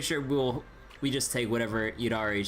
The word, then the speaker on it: Yidhari: It's like a soft D sound compared to like a hard duh sound.